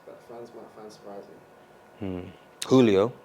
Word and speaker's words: Julio: Julio. A lot of people say Julio. It's cool. Honestly, I don't mind the way it's pronounced, but it is the Hispanic way of Julius, which is my name.